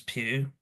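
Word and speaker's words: Pugh: Uh, Oliver writes, "The Doctor would be played by Florence Pew." Apologies, I forgot that pronunciation.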